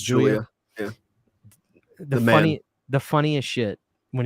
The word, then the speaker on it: Julia: It's Julia.